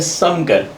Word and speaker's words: शंकर: शंकर का जो actual pronunciation है वो है समकर, जो समान व्यवहार करने वाला है।